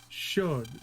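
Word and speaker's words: Chaud: And apparently that's supposed to be pronounced something like should, because it's French. But I'm pretty sure that the way it's always been pronounced in Battle Network is chod.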